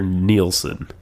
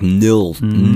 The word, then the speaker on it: Nilsson: Harry Nilsson has this whole... Is it Nilsson or Nielsen? I think it's... Well, it's spelled like Nilsson. Nilsson. Like no son.